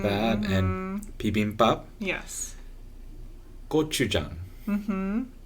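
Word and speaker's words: gochujang: and things like that and peim pup yes go Jang mhm not goou Jang i' I've heard people pronounce it correctly in a video in the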